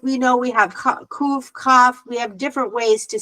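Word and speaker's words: כ: kaf is pronounced like challah bread. Challah bread. Yeah, kaf.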